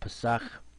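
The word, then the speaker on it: פסח: of 11 bread here you see the Hebrew Passat this is how you pronounce it is a week-long feast to remember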